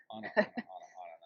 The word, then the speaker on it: Ana: By the way, her name is spelled A-N-A, and I'm constantly wanting to say Anna or Anna. And she's like, call me whatever you want, I don't care. But her real name is Anna.